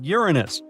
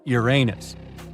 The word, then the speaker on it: Uranus: Actually, astronomers say we should be pronouncing it like Uranus, not Uranus. I can't say a different stress changes much though.